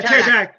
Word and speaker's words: pterodactyls: Yeah, the Yeah, pterodactyls. pterodactyls. I was saying it Yeah. starts with a P, but the P is silent.